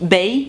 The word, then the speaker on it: Bae: Alors, ma Gertrude, Bae, c'est vrai que c'est moi qui le prononce volontairement très mal. Apparemment, normalement on dit Bae, ça s'écrit B-A-E, ça veut dire before anyone else.